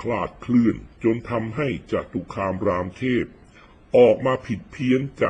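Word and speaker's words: จตุคามรามเทพ: นะ เกน นำ เนี่ย จตุคาม รามเทพ อ่าน ว่า จตุคาม รามเทพ นะ ไม่ ใช่ รามเทพ เทพ องค์ หนึ่ง ขนาน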